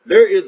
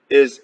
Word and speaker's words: Ai: The first one is Ai. I guess you would pronounce that I.